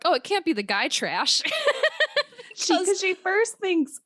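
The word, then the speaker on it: Gytrash: this creature called and I believe it's pronounced the guy trash uh which is like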